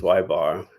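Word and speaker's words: ȳ: The bar above y you pronounce as y bar. And the bar above x you pronounce as xbar.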